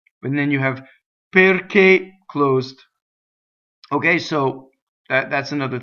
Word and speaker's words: perché: Next is two closed e's, a, right? Perché, so perché, right?